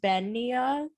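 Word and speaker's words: bean nighe: is spelled bean niggy yeah um but it's pronounced ben nia because why not well and it kind of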